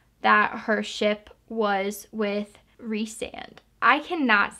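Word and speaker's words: Rhysand: i was reading it i thought it was rye sand and then in this collector's edition they have pronunciations and it said you pronounce it as like reese re-sand so that's gonna be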